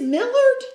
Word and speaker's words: Millard: it's millard millard millard m-i-l-l-a-r-d yeah it sounds like miller to me yeah well they might